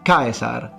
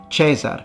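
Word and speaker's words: Caesar: We know it's Kaisar, not Chesar, because we again have many grammarians and authors lamenting the fact that in the rustic non-urban version of Latin, people are starting to pronounce the I as a simple E. And they tell us that that's not the proper way of speaking.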